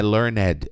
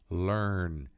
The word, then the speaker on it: learned: Não, esse E não é pronunciado. Não é learned, é learned, learned, learned.